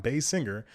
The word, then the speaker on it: Basinger: basically a spell difference it's spelled the way it sounds base singer but ken bassinger is